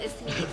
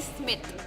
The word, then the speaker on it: Ismeet: name is Ismeet and my boss cannot pronounce my name. He calls me Smith.